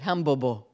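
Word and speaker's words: 汉堡包: but in but in in China they pronounced it hambobo foreign okay so to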